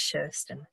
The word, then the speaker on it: Kirsten: And so yeah, my name is Kirsten, you'll be able to see on here that it's spelt Kirsten but it's pronounced Sherston, and I have been